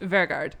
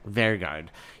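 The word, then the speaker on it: Vegard: Vergard. Vergard.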